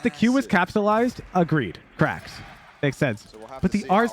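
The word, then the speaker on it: Qraxs: guy at another team named cracks spelled q-r-a-x-s with a capital r at night I don't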